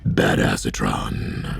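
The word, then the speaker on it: Badasatron: right now is um bad acetron which is actually pronounced bad asatron voiced by Keegan Michael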